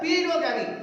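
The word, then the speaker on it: paedogamy: Here pedogamy, here the a is silent, so pronounce பண்ணும் பொழுது pedogamy தான் சொல்லணும்.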